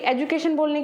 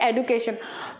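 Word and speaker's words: education: ठीक है, एक्चुअली आदत है हमारी एजुकेशन बोलने की, बट रियल प्रोनाउंसिएशन इसका होता है एडुकेशन।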